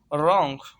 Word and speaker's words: wrong: रॉन्ग, WRONG, रॉन्ग। रॉन्ग mean गलत, RONG, रॉन्ग। Here the first W is silent.